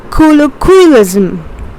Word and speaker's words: colloquialism: Colloquialism. Okay, lism. You are putting the stress over here. Colloquialism. The last syllables.